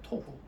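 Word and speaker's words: תֹהוּ: 토후. 저기다 좀 써놓으세요. 토후. 요 히브리어 원 글자는 좀 몰라도 돼요.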